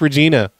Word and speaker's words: Regina: Oh, no, it's pronounced Regina.